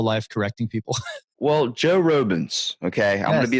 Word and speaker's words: Robens: spent my whole life correcting people well Joe robens okay I'm going to be the first person